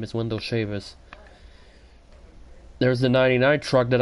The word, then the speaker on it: Chavous: because I've been here and that's how you pronounce his last name is Wendell Sheamus there's a 99 truck that I faced it